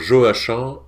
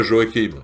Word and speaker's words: Joachim: Alors je précise, Joachim Murat, hein, pour les adorateurs de l'époque napoléonienne, on prononce Joachim et pas Joachim.